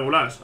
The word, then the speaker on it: Güler: Güler, nadie lo va a llamar Gulás, aunque se pronuncia así.